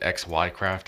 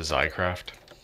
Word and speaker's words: XyCraft: mad at me that in my Let's Mod series I pronounced it XYCraft as opposed to Zycraft? I've had lots of YouTube comments over that I said it wrong.